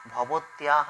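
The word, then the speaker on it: ভবতঃ: আচ্ছা দেখবে খেয়াল করবে আমি বলছি কিন্তু নাম ঠিক আছে উচ্চারণটা হচ্ছে অর্ধস্বর অর্ধ উচ্চারণ থাকবে এখানটা হ্যা ওটাই শুদ্ধ উচ্চারণ ভবতহ নাম কিম মানে আপনার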